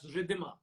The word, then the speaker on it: Ridhima: Am I right in pronouncing Yeah. your name as Ridhima? Oh, yeah. You got it.